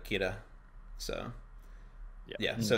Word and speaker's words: Kira: yeah it's just it's because like the l syllable doesn't exist in japanese basically it's the l sound so they they say like kira so yeah so it's